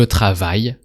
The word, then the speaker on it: travaille: So, je travaille, no A sound at the end, because you're conjugated travaille.